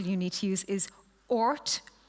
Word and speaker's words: Oort: need to use is Oort Kuiper, as in the Oort cloud and Kuiper belt.